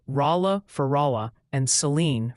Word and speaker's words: Saline: They're strongly suggesting it's Rala for Rala and Seline for Saline County.